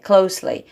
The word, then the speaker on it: closely: تلفظ closely رو دقت بکنید صدای سم ده. Closely. Close نیست. Closely.